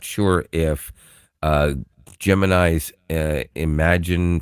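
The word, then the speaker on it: Imagen: It's pronounced imagine.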